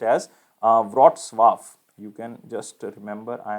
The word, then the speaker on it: Wrocław: So it is not pronounced as you can say Wrocław. It is basically pronounced as Wrocław.